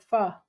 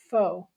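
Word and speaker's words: phở: eat ethnic food like pha and correct me is is that how you pronounce it tommy please come back in and say is it it's not foe which is what americans say uh so all right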